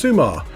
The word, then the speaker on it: Summa: still always summer at the all-new sumar beach pronounced sumar the ps4 version of